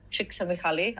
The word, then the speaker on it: Csikszentmihalyi: Yeah, and you showed the book Finding Flow earlier by Mihaly Csikszentmihalyi. I think that's how I'm pronouncing his surname.